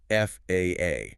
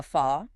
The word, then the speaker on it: FAA: Meanwhile, the FAA, the Federal Aviation Administration in the US, must be spelled out letter by letter, FAA.